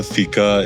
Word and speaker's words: Fika: But pronounced as Fika.